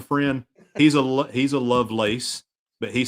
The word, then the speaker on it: Lovelace: Northerners they call me Loveless but to the people in the South they call me Lovelace no I'm just messing we pronounce it my family pronounces it Lovelace yeah just like yeah